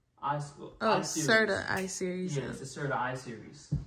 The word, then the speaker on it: Serta: size mattress how do you say it I sorta High School oh Serta I Series yeah I Series so I don't